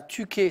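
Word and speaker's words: Tyché: hasard identifiée à la tuqu ça sécrit Ty ch ça se prononce plutôt tuqu grec représenté le plus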